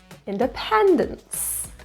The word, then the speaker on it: independence: Stress is in the third syllable. Independence.